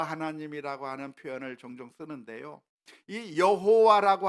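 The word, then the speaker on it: 야훼: 어 우리가 하나님의 이름으로 여호와 하나님이라고 하는 표현을 종종 쓰는데요.이 여호와라고 하는 말 이것에 더 정확한 발음이 있다고 한다면 야회라고 해야 아마 더 정확할 거라고 학자들은 추측하고 있습니다.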